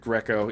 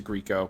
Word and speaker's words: Grieco: say ray leota and we say richard greco even though we changed it to grieco because everybody complained you're saying it wrong true um and mark